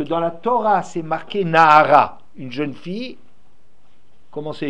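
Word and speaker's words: נערה: On le lit Nahara, ça s'écrit Nahar.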